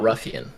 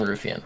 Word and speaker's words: Ruffian: What's so hard about Ruffian? Why do you keep saying Rufian?